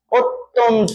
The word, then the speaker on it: অত্যন্ত: অত তন ঠিক আছে এটার উচ্চারণ হবে কি অত্যন্ত বুঝাইতে পারছি অয়ে গেছে